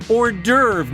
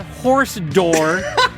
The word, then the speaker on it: hors d'oeuvre: David, the word is hors d'oeuvre, not horse door.